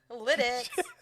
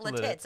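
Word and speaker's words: Lititz: Lidditz. It's not Latits, okay?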